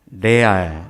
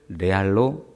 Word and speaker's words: 레알: 그냥 영어를 그냥 우리말 그냥 발음법으로 그냥 그대로 읽는 것입니다. 이것을 레알로 읽습니다.